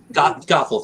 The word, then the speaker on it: Gothel: youtube and i have her as as mama gothel goethe however you pronounce it gothel thank you her as mother gothel is so